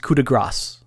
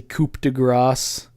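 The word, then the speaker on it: coup de grâce: it from somewhere um but it's currass It's pronounced cudigrass.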